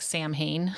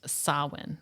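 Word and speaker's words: Samhain: called sawin which is interesting because it's it's spelled like Sam Hayne but it's it's it's uh I guess in um Gaelic it's pronounced sawin sawin okay so it was a pagan religious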